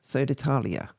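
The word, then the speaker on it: Södertälje: joined soda tal soda how do we pronounce that again sodali Talia I think it is sod Talia yes soda Talia let's call it that um sto mfos he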